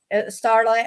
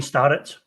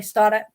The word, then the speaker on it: Starrett: I know that Starlet, as I used to pronounce it, Starlet. Shane Starrett. Sorry, Starrett.